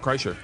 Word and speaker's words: Kreischer: How do you say your last name? Kreischer, you said it right. Yeah. Kreischer.